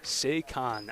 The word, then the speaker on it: Saquon: Saquon. I knew it. Hard A. Saquon.